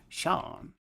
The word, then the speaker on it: Seam: The name Seam pronounced Shawn and this is my